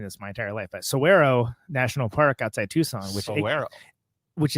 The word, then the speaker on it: Saguaro: I realize I've been mispronouncing this my entire life, but Saguaro National Park outside Tucson, which is I thought it was Saguaro because the G has got one of those things.